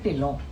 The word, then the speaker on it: Dhillon: Punjabi surname है और पंजाबी लोग जो बोलेंगे वो टिल्लों बोलेंगे. ओके. ट तो पंजाबी में ही आएगा, ना इंग्लिश में आ सकता है ना हिंदी में. सो एक्चुअल प्रोनाउंसिएशन है टिल्लों. तो जब ट कैसे लिखोगे आप इंग्लिश में? सो it became DHI एंड DH करोगे तो ढिल्लन ही हो जाता है.